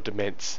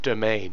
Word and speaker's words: demesne: that sort of stuff uh that's actually pronounced domain yeah I don't want to